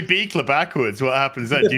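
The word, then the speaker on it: Buechler: Buchler? It's Beekler. The U is silent and the CH is a K, and it's derived from Buchler with like an umlaut, and they at Ellis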